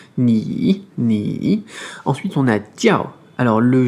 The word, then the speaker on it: 叫: IAO, là on va prononcer IAO comme IAO, avec un O très bref, et un quatrième ton. Tiao.